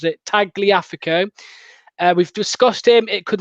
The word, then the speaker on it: Tagliafico: I'm trying to work out how this guy told me to pronounce it. Tagliafico.